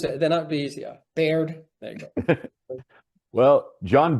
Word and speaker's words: Baird: John, how do I pronounce your last name properly? Baird.